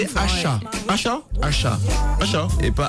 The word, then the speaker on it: Asa: Asha. Asha? Asha. Asha? Et pas Asa. Ouais, ça s'écrit A-S-A, mais ça se prononce Asha.